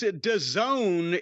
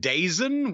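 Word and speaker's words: DAZN: correct well and and this Doone is the remember we've talked about this in the past it's it's spelled da ZN and before we heard anybody say it we were like what is it daen what the [ __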